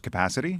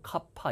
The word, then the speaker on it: capacity: 그러니까 Unfortunately, our budget 이거 발음이 capacity 아닙니다. 예, 뭐 카파 이런 말 줄여서 많이 쓰는데 capacity, 카파 아니에요. 카파, capacity 발음. 예, 뭔가 용량, 능력 이런 거 할 때 카파 아니에요. capacity. 예.